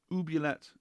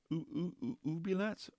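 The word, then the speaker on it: oubliette: of uh OBX oé it's from ubet I can't contort my mouth I'm not French enough ubet ubet ubet because it's a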